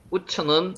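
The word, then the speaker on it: עוּץ: 우츠라고 읽고요. 우츠는 묻다 상의하다는 말입니다.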